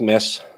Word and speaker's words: Mads: Yeah, it's like mess. That's the way to pronounce it. Take the D away and put an extra S in.